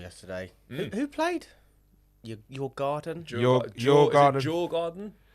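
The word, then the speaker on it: Djurgården: Jaw garden. Your garden. You're going home. No. You're going back. They must pronounce They They pronounce a D. It's not a silent D, is it?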